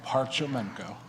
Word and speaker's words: Parchamenko: Just like it's spelled, Parchamenko. Parchamenko, okay, all right.